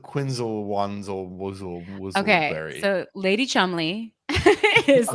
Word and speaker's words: Cholmondeley: Chumley. Marchioness of Cholmondeley, which is But it's pronounced Chumley. Chumley. She's your chum.